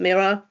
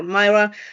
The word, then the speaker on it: Mira: For those who are wondering how to pronounce my name, but because uh, people fear butchering my name, I I'll tell them call me just Mirror or Myra.